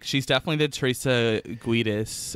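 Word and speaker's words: Giudice: Like, she's definitely the Teresa Guidis, or however you say her name, of the group. Judice. Yes.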